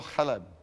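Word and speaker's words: חלב: Pretty much the same sound, but get a little bit more guttural. Chalab.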